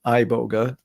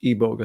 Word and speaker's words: iboga: plant and so the pure iboga some people pronounce it iboga um I understand it to be pronounced ebog spelled IB o g a anyway um it's